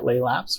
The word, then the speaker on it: Laelaps: So I'm on Twitter at Laylaps, which is spelled LAELAPS.